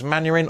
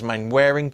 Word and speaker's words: Manwaring: His assistants are Lee Betts and James Manwaring, or James Manwaring, depending on your pronunciation in it and if you're a Dad's Army fan or not.